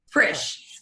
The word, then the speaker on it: Frisch: Frisch. Rhymes with fish. Super easy. Put an R in it. Frisch.